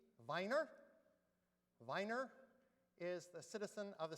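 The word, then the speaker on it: Wiener: And if we pronounce it with the German V miner, Viner is the citizen of the city of Vine, Vienna.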